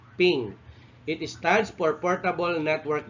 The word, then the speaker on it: PNG: announced as ping or this is pronounced as ping it stands for portable